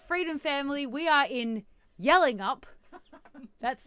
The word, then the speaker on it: Yallingup: hello freedom family we are in yelling up that's spelled y a w l i n g